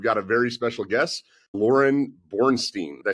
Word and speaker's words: Lauryn Boorstein: We've got a very special guest, Lauryn Boorstein.